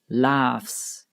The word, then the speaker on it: laughs: books hats cliffs laughs the gh air is pronounced like an F so it is laughs graphs the pH here